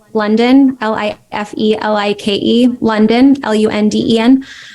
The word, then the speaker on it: Lunden: life like London l-i-f-e-l-i-k-e London l-u-n-d-e-n I spelled a little different than the city but it's pronounced like the city um and then yeah